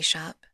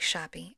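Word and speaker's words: Shope: at the local coffee shop, Higher Falls Coffee Shop, spelled S H O P E. So, I'm not really sure if Well, they tell me they pronounce it shop, but it looks like Shopppee.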